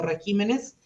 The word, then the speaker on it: regímenes: al formar el plural si yo digo régimen en el plural cambia lugar de su acento digo regímenes pésima especímenes carácter caracteres